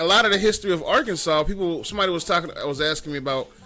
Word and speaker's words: Arkansas: That's why it's not spelled, or it sounded like Kansas, and that's why it's not Arkansas. It's Arkansas, because it originally wasn't spelled that way.